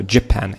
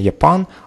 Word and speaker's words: Japan: Вот правильно читается слово Japan. Не Japan, а Japan. Japan.